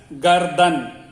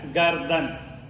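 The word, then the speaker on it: गर्दन: The neck is called as gardan. Neck is called as gardan. There is a throat in the neck. Throat is called gala. Throat is called gala. Neck is called gardan.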